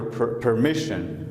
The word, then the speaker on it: permission: So I would like to have your permission. Okay? Not permission. It is not pronounced ran. Okay? It is pronounced what? Shan. Permission.